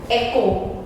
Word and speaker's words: echo: Echo, H again silent. Next, letter K, words where K letter is silent.